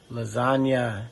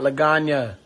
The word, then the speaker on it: lasagna: In today's episode of This DJ Can Cook, we are doing lasagna, not Laganya. The G is silent.